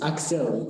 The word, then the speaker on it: Axel: Is it Axel on my left? Your pronunciation, it's Axel. It's an X.